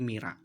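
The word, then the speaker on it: Myrrha: Contoh tulisan Mirha maka diucapkan menjadi Mira.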